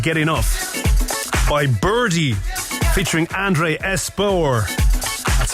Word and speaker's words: Andre Espeut: This is the extended mix of Can't Get Enough by Birdie, featuring Andre Espeut. That's how it's pronounced, I kid you not.